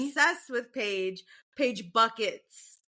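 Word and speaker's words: Bueckers: Paige buckets. Just go with it. It's Paige bucket.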